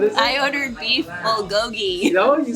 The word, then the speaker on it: bulgogi: I ordered beef bulgogi.